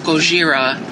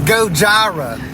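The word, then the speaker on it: Gojira: Sky they sound oh they remind me of goira it's pronounced gojara well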